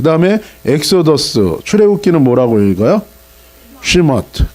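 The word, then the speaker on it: שמות: 출애굽기는 뭐라고 읽어요? 시머트.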